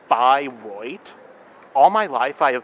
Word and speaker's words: Bayreuth: Yeah, eu in German makes a oi sound.